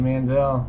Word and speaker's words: Manziel: not get drafted and then how do you pronounce this honey honey Menzel for stew fan Johnny Manziel there it is Boom it's a silent J